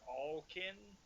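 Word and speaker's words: Awlkin: bit more than that i got like all kin which is both which is both like all because they're kind of diverse like that but also like it's spelled a-w-l a-w-l k-i-n okay um so yeah was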